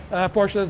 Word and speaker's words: Porsche: In most of the Porsches, they're rear.